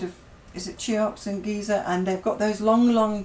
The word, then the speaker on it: Giza: Giza, not geezer.